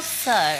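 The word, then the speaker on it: Tso: Is it So or Chow? General So. General So.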